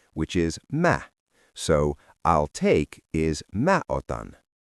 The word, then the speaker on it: Mä: use the spoken form for I, which is ma.